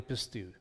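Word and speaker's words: πιστεύω: the you to believe again in modern and coinage pronunciation pistil but in erasmian pronunciation we're pronouncing every single consonant vowel so it's pisteuo but more than likely pistou this this fate that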